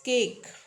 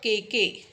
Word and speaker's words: cake: But final e means last word of the word, last letter of the word, that is silent. So you subtract one, the syllable count is one, right? So here you subtract the one and syllable count is one. Why? Because it's cake, right?